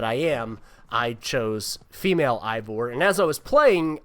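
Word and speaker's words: Eivor: play as a character named uh ivor or evor it's they they pronounce it kind of different ways but it's e-i-v-o-r and that's both male and female it doesn't matter there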